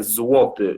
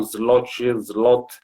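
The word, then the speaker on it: złoty: O nome da moeda é zloty. Os brasileiros pronunciam zloty, mas é zloty, contém algumas letras como um L cortado, que não é tão fácil para pronunciar aos brasileiros.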